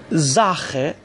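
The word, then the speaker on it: Sache: زاخه، ببینید بعد از اس آ اومده، پس اس باید ز تلفظ بشه. زاخه. از طرف دیگه آ قبل از سی ها یا همون سی اچ اومده، پس سی اچ رو هم اینجا باید خ بخونیم.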